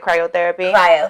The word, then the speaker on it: cryotherapy: we were in cryotherapy that's how you pronounce it cryotherapy what the hell is